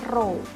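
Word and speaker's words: rho: simbol massa jenis ya Jadi ini bacanya row gimana besarnya hambatan jenis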